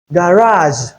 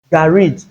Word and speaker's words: garage: So it has 2 pronunciations. This is another word in free variation. It is either you include the R sound here or you include the A sound. And then the last consonant sound. It is either you use Z or J. When you use A, you use J.